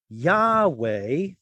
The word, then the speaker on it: Yahweh: Yahweh is what the scholarly consensus is on how God's name was probably pronounced in ancient times.